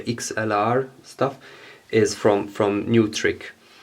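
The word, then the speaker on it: Neutrik: stuff is from from new trick it's written network trick and in German you would say nitric in German oh my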